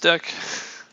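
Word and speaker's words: deque: double ended queue deck often abbreviated as a deck pronounced deck is an abstract data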